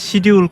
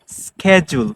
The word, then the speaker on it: schedule: যাই আমরা বলি যে শিডিউল কবে শিডিউল করবো সো আপনারা এখন থেকে কেউ শিডিউল বলবেন না শিডিউল হচ্ছে totally incorrect way we pronounce is totally incorrect we have to সে স্কেডিউল in American Xcent if we want to